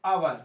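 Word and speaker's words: hour: ठीक है, तो एन आवर, तो आवर, तो यहाँ पर एच साइलेंट होता है, ये आवर इससे स्टार्ट हो रहा है आ से, छोटा आ से, तो यहाँ पर ये वोवेल मिल गया।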